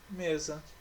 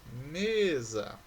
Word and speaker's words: mesa: São as palavras açúcar e mesa. Olha lá, açúcar, mesa.